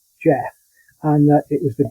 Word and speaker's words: Gef: introduced itself it said its name was Jeff which is spelled g-e-l Jeff and that it was